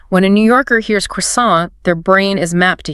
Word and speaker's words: croissant: When Daniel says croissant, the stress is at the very end. The T is completely gone.